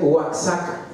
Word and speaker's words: Oaxaca: Oaxaca se escribe Oaxaca, pero se pronuncia también Oaxaca, ¿sí?